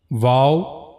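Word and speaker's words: و: Then the next letter wow. The origin of this letter is circling the two lips without meeting completely means your lips should not meet to each other but you have to circle them.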